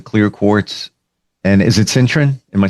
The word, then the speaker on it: citrine: Would it make sense to carry the clear quartz and is it citrine? Am I saying it right? Citerine.